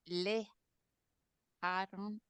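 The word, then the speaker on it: לְאַהֲרֹן: The way I divide up syllables is I will include a schwa, excuse me, an audible schwa. I'll include that with the next syllable. Some people like to divide it separately like this, le, aha, and Aha so this would be le haron.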